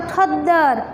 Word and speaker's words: खद्दर: फिर the plus the, तो the plus the, तो ये इसका उच्चारण कैसा होगा, खद्दर, खद्दर, तो द के नीचे द है, इसमें खद्दर।